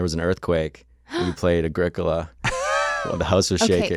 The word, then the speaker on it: Agricola: It's Agricola. The O is short by nature and position, so the accent is on the antepenult.